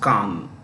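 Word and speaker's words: Cannes: is a Khan film festival Khan c-a-n-n-e-s is pronounced Khan okay uh Khan is a town on the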